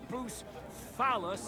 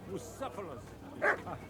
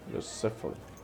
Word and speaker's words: Bucephalus: What kind of name is Bruce Phallus anyway? It's pronounced Bucephalus. Bucephalus.